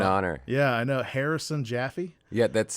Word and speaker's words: Jaffee: He spells it with one E. Yeah, pronunciation same, different spellings.